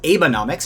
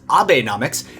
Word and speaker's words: Abenomics: If you read this as Abenomics and wondered what Abraham Lincoln's federal budget plan was, well, I get that. But once you pronounce it a little differently as Abenomics, and then ask yourself,